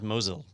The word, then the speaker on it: Mosyle: is the CEO of Mosul and so that is not Mozilla right yeah you know the way it's spelled is like Mosiah but it is Mozilla yeah so so what's